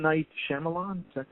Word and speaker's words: Shyamalan: However, this particular movie, I drew on a movie by oh my God, I'm gonna botch the pronunciation of his name. M. Night Shyamalan. Is that correct? Shyamalan.